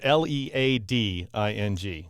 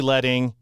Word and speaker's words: leading: It looks like the word, if you've never seen it before, it's spelled L E A D I N G. So, it looks like the word leading, but it's actually letting because back in the